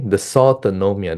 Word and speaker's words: dysautonomia: Okay, dysautonomia, that's how you pronounce it, in COVID-19.